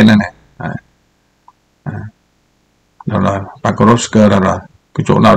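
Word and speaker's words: Покровск: Các bạn cứ nghe theo đúng tôi phát âm là chuẩn Nga luôn đấy các bạn nhá. Chứ Porop là không có đúng đâu. Các bạn nghe các đài Nga là nói Pakrovsk.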